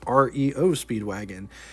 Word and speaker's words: REO Speedwagon: In 1915, the legendary Rio Speedwagon first appeared, not to get confused with the band by the same name, but they pronounced theirs REO Speedwagon.